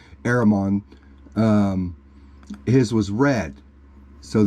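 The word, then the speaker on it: Éremón: uh yellow and then Herman which is the English Herman is an English derivative it's it's how they pronounce it's actually aramon um his was red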